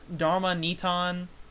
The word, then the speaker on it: Darmanitan: And it may be pronounced Darmanitan, as it's supposed to be based on a Dharma doll. But, you know, I'm personally going to keep pronouncing it Darmanitan for aforementioned reasons.